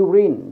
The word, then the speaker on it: urine: Nhưng mà nếu ở đây nó pronounce là you, thí dụ urine thì nó không là nguyên âm nữa mà nó trở thành là a urine test.